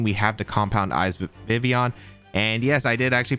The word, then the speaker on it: Vivillon: Finally, the last Pokemon to provide some speed control to this team, we have the Compound Eyes Vivillon. And yes, I did actually pronounce it right.